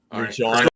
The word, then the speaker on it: Regina: Regina rhymes with something fun. Regina, the city that rhymes with fun.